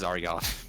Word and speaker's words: Zaryoff: Oh yeah, the name is Zaryoff. You pronounce it with a Z. Zaryoff.